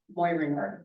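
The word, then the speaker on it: Moehringer: who we know as JR Mo ringard that's the right way to pronounce it name um there were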